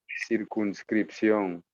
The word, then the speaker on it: circunscripción: So let's take it syllable by syllable. Okay. Cir Here, kun kun, scripción. script, sion.